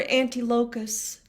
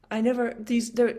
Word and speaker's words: Antiochus: Now I have to pronounce something that I will mangle. What if we're anti-locus? How should I say that? Antiochus.